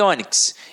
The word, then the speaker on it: ônix: leva o assento e Ônix eu tenho uma paroxítona terminada em x com a pronúncia fechada levam acento circunflexo e baú entra na regra do i.a.